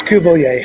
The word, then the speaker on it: Cuvelier: How do you pronounce it? It's Cuvelier. How are you doing, Martin? Cuvelier.